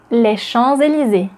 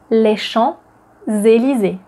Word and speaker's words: Champs-Élysées: L'Arc de Triomphe is located in the famous place in Paris, les Champs-Élysées. Les Champs-Élysées. Les Champs-Élysées. Les Champs-Élysées. We don't say les Champs-Élysées. The P is not pronounced, it's les Champs-Élysées.